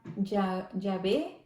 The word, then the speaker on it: Yahvé: Este nombre Jehová, hermanos, nos dice que los griegos, los judíos y los judíos mesiánicos evitaban pronunciar este nombre sacrosanto porque Jehová lo pronunciaban Yahvé, pero en realidad, hermanos,